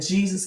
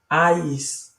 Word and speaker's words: Ies: So the name Jesus cannot be accurate, neither is Yahweh and Yeshua accurate. It is actually Ies, Ies, I-E-S.